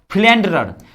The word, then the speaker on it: philanderer: अगला देखिए, बड़ा पॉपुलर वर्ड है, शायद आप लोग उतना तो नहीं जानते होंगे, लेकिन लिखने में मजा आ जाएगा, फ्लैंडरर, PHI, इसकी स्पेलिंग होती है PHILANDERE, फ्लैंडरर।